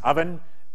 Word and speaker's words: OVN: advertisement for ovn so ovn is pronounced oven hence the logo kind of looks like an oven and it's built on